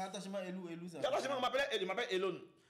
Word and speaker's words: Elown: On m'appelait je m'appelle Elone. Tata Cam n'arrivait pas à prononcer le mon nom mon nom Elone. Elle disait elou se moqué de moi Elou Elou.